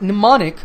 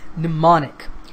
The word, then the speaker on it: mnemonic: to the pronunciation it's mnemonic the M at the beginning of the word is silent okay so it's mnemonic